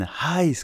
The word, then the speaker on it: heiß: Et je lui fais non, ein Heiß café. Et là, j'ai compris qu'il fallait bien le prononcer, le H.